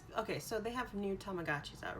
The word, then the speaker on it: Tamagotchi: so they have new tamagotchis out right the commercial the kid says tamagatchi right it doesn't have he pronounced it weird and it's like no it's tamagotchi yeah jeez people tamagotchi